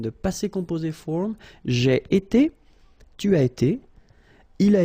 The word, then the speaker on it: été: that will repeat itself every time, and it's pronounced like été, été.